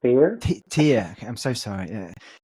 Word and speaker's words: Theyr: Make sure I pronounce that right. And yeah, Fear? Theyr.